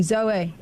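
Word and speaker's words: Zoë: dots like as in Zoe yeah so you pronounce the E yes so you pronounce the E Zoe Zoe Zoe zo otherwi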